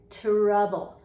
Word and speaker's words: trouble: It's ta-ra, trouble. Ta-ra. Did you know there is no ch-ra? So if you ever think you're hearing ch-ra, trouble, tree, like that, train, No, it's ta-ra.